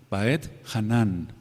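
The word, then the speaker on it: Vaetchanan: parashot la paracha 45 voy a deletrear como se dice o cómo se escribe b chica a e de Ernesto t de tío y luego dejan un espacio por favor J a n a n con acento en la última baet hanan y supliqué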